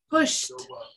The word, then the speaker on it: pushed: Push. Pushed. No vibration. So it's a T sound.